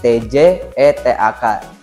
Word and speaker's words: Tjetak: Nah, akhirnya saya kepikiran kayak cetak itu jadi TJETAK. C kalimat dulu TJ, jadi dibacanya C.